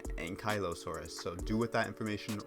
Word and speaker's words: Ankylosaurus: It also kind of makes it almost look like an Ankylosaurus, which is apparently how that's pronounced. I've always said Ankylosaurus. Apparently it's Ankylosaurus, so do with that information what you will.